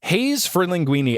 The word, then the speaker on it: Haze for Linguini: Haze for linguini and not haze spelled like the name Hayes.